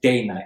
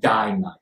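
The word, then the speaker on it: Dainite: Oh, incidentally, it's pronounced Day Night, not Die Night. That's because the company that made it used to run their mills, factories, day and night.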